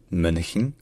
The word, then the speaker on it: Mönchen: Ensuite, le N, il est prononcé suffisamment longtemps pour qu'on n'ait pas besoin de dire une vraie voyelle. Donc ce n'est pas chen, c'est hin, donc Mönchen.